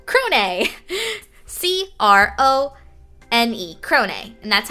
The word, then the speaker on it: Crone: It is called Crone. C-R-O-N-E. Crone. And that's how you pronounce it.